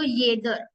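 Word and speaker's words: jeder: मर ममर mean lovage next जे को pronounce करते या या य ट अगर इसको वर्ड को प्रोनाउंस करू तो येदर येदर येदर मींस एवरीवन अब अगर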